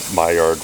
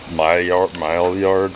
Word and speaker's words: Maillard: to pronounce the word Maillard reaction. Maillard reaction. She said, it sounds to me like my yard.